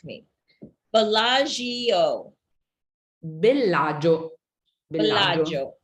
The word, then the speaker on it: Bellagio: Bellagio. Bellagio. You don't hear the I. Bellagio. So it's really not 4 syllables like we Americans think it is, right? No. Bellagio.